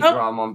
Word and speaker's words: Dramon: a Draymond destroying Digimon is it Draymond or Dramon I I say Draymond but it's probably Dramon okay it's usually Dramon but I assume some